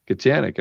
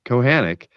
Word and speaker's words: Kohanek: So Patrick Kohanek, Kachanik. I know I was going to say it like that, but no, it's Kohanek.